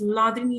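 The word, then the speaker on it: Hladini: the third one is lini shaki H is silent here and that is nothing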